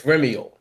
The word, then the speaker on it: Remyael: Uh, Now, I might say your name wrong. Correct me. Yeah, Ramiel. Remiel? close enough. It's Remyael.